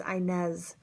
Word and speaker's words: Inez: correctly so that's interesting my middle name is Inez naughty Ness like in Spanish which I actually speak Spanish which is interesting but it spelled with a Z not an S like it is in espanol and Inez was my